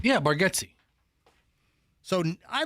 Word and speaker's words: Nate Bargatze: Is it Nate Bargatze? How do you say his name? Yeah, Bargatze.